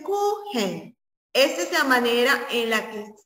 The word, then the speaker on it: Kuchen: que también, chicos, es conocido en otro idioma como Kuchen, que se escribe Kuchen, pero se dice Kuchen.